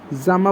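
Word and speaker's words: gemma: specialise structure जो कि जामा बनाते हैं या फिर गमा भी आप इसे बोलते हो गमा कब बोलते हैं ठीक है अलग-अलग तरीके से आप इसे प्रोनाउंस करते हो तो उस तरीके से भी होता है गमा आर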